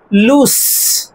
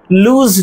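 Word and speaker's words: loose: এসই সেটা ভারব তো L double S এর উচ্চারণ হবে লুস। লুজ নয়।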